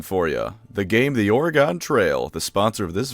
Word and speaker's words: Oregon: The game The Oregon Trail, the sponsor of this video.